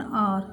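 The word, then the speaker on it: hour: I will come back in एन आर, एन आएगा, आर आप पहले ही बोल चुकी हैं आपको, आर एच साइलेंट है इसलिए एन आएगा।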